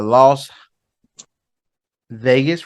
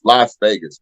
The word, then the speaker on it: Las Vegas: on the Chiefs right why is Las Vegas pronounced Las Vegas and it ain't spelled like lost he keeps saying lost it's called it's Las Vegas it's Las Vegas I've